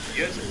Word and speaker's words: Jurten: Starts with a J, but because he's German, the J is silent. Jurten got in contact with